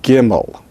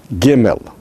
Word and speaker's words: gimel: Without a dogish, it is pronounced as chimel, chimel, chimel. It is a G sound, which is velar, that is, it's pronounced using the velar region of the mouth toward the back of the mouth, but not all the way back to the throat.